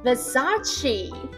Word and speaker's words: Versace: 下一个 Versace， Versace， It's just a label like Gucci or Versace，重音放在 sa。